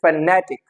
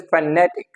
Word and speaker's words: phonetic: three syllables फ नेटिक एंड the stress is ऑन ने फनेटिक इट इज फनेटिक इट इज नॉट फोनेटिक